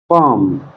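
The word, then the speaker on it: palm: piece piece mean मटर पाम पाम mean हथेली जो हाथ की हथेली होती है इसमें एल साइलेंट है पाम में पिजन पिजन मीन कबूतर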